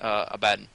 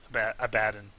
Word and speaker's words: Abaddon: over the fact that people are pronouncing it Abaddon. I'm so used to calling it Abaddon that I'm gonna keep doing that, and I feel like it's like tomato, whatever suits you the best.